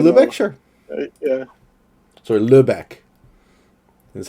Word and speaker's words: Lübeck: Sorry, Lübeck is how you said it, right?